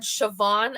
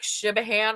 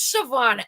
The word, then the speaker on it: Siobhan: But then it also said Siobhan Evans, but spelled like the very kind of European, like Shibahan, right? When you look at it. And I was like, who's Siobhan Evans?